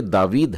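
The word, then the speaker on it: דוד: इसे पढ़ लिया होगा आपने इसे क्या पढ़ा दावीद दावीद या दावीद जी हां तीसरा वाला यह दावीद है और मैंने आ की मात्रा के उच्चारण को मानो बड़ी आ की मात्रा लिया है और उस शब्द का उच्चारण किया है जब आपने ई शाय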